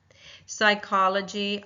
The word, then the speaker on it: psychology: I am going to box off. I'm going to cross off the P and my first syllable begins with a sound. So, I will box the S. That Y in psychology is making a vowel sound. It's not being used as a consonant sound.